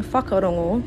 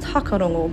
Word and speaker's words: whakarongo: For example, instead of hearing whakarongo to listen with a sharp F sound at the beginning, it would often be pronounced hakarongo by ngā puhi members. As another example, Tūhui speakers change the ng sound into an N sound, so whakarongo becomes whakarono.